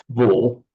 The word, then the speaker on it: två: In fact, in Swedish, it's pronounced två.